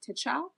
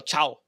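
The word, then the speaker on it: Tchao: Michael Tichow? Michael Chow. Chow. Sorry, the T's silent.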